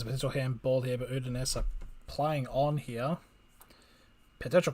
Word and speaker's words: Udinese: It is Udinese. You were saying it correctly originally.